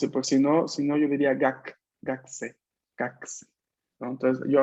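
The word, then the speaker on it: 学生: Pues si no yo diría gakse, gakse. ¿No? Entonces yo acá digo gakse, una U muy corta, pero está. Ok, ¿Vale? solamente es como un suspiro así de la U.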